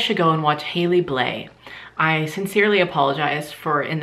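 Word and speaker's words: Blais: YouTube you guys should go and watch hailey bleh I sincerely apologize for in the past calling her hailey blase when I would talk about her music or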